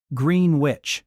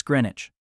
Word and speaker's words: Greenwich: Green witch, Luga, Baruga, Edinburg. Each pronunciation delivered confidently, each one wrong in a way that suggests no research was attempted. Britain does not interrupt. Britain lets the pronunciation finish. then gently says, "Right, it's Greenwich."